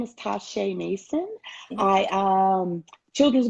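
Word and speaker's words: Ta'Shay: yourself to everyone um make sure that i'm pronouncing your name correctly okay uh my name is tasha mason i am a children's book author my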